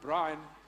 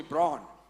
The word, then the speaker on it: Brian: a Jewish guy and my name is pronounced Brian and he's he called me he calls me Braun and he said Braun